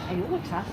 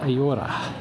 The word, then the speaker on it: Ayora: Ayora. Aorta. Not aorta, Ayora. It's probably the Y is not pronounced like that, but just go for a walk, hit the tourist shops, do the shopping for the kids.